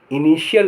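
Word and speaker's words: initial: Russia Russia माने रूस टी के उच्चारण टी के स्थिति के हिसाब से यह उच्चारण होते हैं श च था और द शब्द में टी के बाद आई ए आईई आईओ आदि हो तो टी को श बोला जाता है जैसे आई एन आई टी आई ए एल इनिशियल माने प्रारंभिक पी ए टी आई ई एन T patient patient माने रोगी आई डबल एल यू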